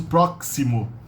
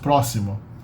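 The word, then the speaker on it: próximo: in the middle but it's not pronounced as proximo it's pronounced it's pronounced prossimo foreign exotic here we have a TI in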